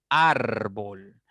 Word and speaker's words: árbol: derecha a izquierda tienen árbol árbol tiene dos sílabas la mayor intensidad está en la segunda sílaba contando de derecha izquierda en ar por lo tanto es